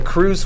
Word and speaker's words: Cruz: I agree with it what a cruise waiver is and that's spelled c r uz after Cruz versus Superior